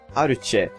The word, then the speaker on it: Arche: Yeah, as I put in the annotation, she is called Arch kind of. It's like Arche, but not quite. It's like Aruche. So that's sort of how the Japanese would try to pronounce Arch.